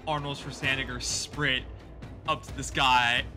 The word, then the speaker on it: Schwarzenegger: I'm gonna fucking just stride over like Arnold Schwarzenegger sprint up to this guy, and I'm gonna just hit him as hard as I can with my fucking fists.